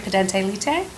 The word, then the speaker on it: pendente lite: I often ask them if their lawyer has filed for, am I saying it right, pedente lite?